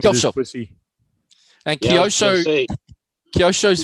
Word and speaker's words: Kyosho: And then they say Kyosho. Kyosho. Tamiya. Not Tamaya. Tamiya. Tony's And playing with his Kyosho. pussy. And Kyosho's very quick on the K. So it's Kyosho.